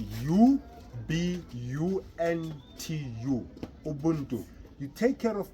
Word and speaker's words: Ubuntu: It's spelled U-B-U-N-T-U.